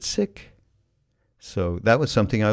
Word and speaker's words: Sikh: woman named Valerie Kaur, a Sikh woman Sikh, but they pronounce it sick.